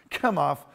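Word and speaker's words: Chemosh: to be falling after after kem off after shemosh or however you pronounce it however you want to pronounce it it's pronounced come off i'm no longer following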